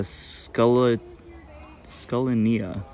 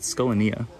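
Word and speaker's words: Scutellinia: these eyelash cups uh scala scullinia i've been scanning saying it wrong but skolania is how you say that we have little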